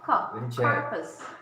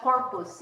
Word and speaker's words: carpus: again carpus gosh yeah carpus not corpus it's carpus oh my God I